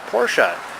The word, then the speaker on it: Porsche: That's a beautiful Porsche. Is that like in the set like 73? You pronounced it correctly too.